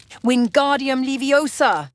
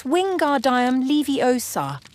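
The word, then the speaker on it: Wingardium Leviosa: Wingardium leiosa, he shouted, waving his long arms like a windmill. You're saying it wrong, Harry heard Hermione snap. It's wingard levy osar. Make the gar nice and long.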